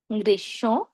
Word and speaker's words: গ্রীষ্ম: আবার বলছি, শব্দের শুরুতে, মাঝে, শেষে যেখানে মফলা যুক্ত হোক না কেন আমরা ময়ের উচ্চারণ করব না। তবে শব্দের মাঝে বা শেষে যদি ম যুক্ত হয় তাহলে যেই ধ্বনির সঙ্গে ম যুক্ত হয়েছে আমরা সেই ধ্বনির দ্বিত্ব করব। আর দুই ক্ষেত্রে আমরা কি নাকি স্বরে উচ্চারণ করব।